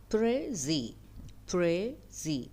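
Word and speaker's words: précis: French word prey so say it like this pra pre Z or you can accent the other syllable like PR so pry is a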